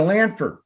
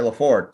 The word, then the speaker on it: Laford: know what i mean andrea lanford laford i'm sorry laford sorry i butchered your